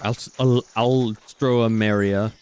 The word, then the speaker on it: Alstroemeria: Some more alstroemeria. Fucking... Alright. Time out. How the hell do you pronounce that flower?